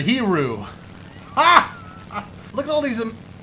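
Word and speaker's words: Hiryu: I'm not going to pronounce it, but I think it's spelled H-I-R-Y-U. So sound that out and say it to yourself, because that's what this carrier is, I believe. Wait, never mind. I'll try to pronounce it. The Hiru or the Hiru.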